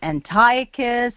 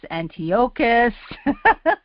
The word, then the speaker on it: Antiochus: to pronounce sorry um is it Antiochus Antiochus it's actually both so don't be afraid to accidentally say either one hopefully I can do